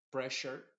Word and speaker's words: pressure: Por ejemplo, pressure, tienes doble S más la U, pressure, y esa doble S más la U se está pronunciando como una SH.